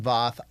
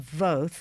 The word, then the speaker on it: Voth: So I'm going to just slightly correct the pronunciation. It's Emily and Todd Voth.